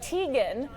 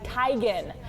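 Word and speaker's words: Teigen: digan isn't it Bob for years people have been mispronouncing Christie's last name we all say it like Tegan so Chrissy posted this video on Twitter today saying it's actually Tigan she got some flack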